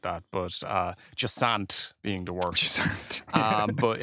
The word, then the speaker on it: Jusant: It's Jusant. yeah, it's a French word. I've seen it said 10 different ways by reviewers and stuff like that, but Jusant being the worst.